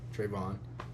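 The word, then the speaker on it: Trevon: welcome to Trey talks um swear me Trey Trayvon just call me Trey though because you would think trayvon's not a and it's spelled t r e v o n you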